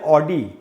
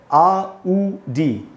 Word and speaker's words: Audi: इसको दोस्तों हम बोलते हैं ऑडी। ऑडी एकदम ही गलत उच्चारण है, सुनने में खराब लगता है। इसका करेक्ट प्रोनाउंसिएशन क्या है फिर, वो है आउडी, आउडी।